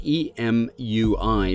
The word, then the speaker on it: Emui: The name is spelled E-M-U-I, but pronounced Emui.